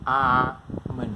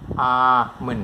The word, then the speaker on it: almond: มั น คื อ almond น ะ ค รั บ almond l นี้ ไ ป เ ป็ น silent sound ไ ป เ ล ย มั น คื อ ไ ม่ อ อ ก เ สี ย ง เ ล ย almond น ะ ค